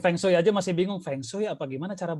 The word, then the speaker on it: Feng Shui: Nyebutin Feng Shui aja masih bingung, Feng Shui apa gimana cara bacanya gitu.